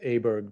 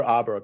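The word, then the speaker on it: Åberg: uh with aberg because is it aberg or auberg I don't want to say that wrong Byron this is Ludwig yeah but how do you say is his last name okay I think it's aberg okay I think it's a Brooke as well uh good answer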